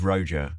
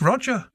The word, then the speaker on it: Roger: the absolute bizar of the pronunciation of his name it's I always thought it was roer yeah or or Roa if you're yeah yeah it's a red red pigeon um no it's it's just Roger it's just Roger he was burn he was